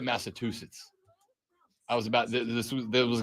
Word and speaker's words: Massachusetts: You said Massachusetts. I was about this was going to be the first physical fight between us. There is no T in the back end of Massachusetts.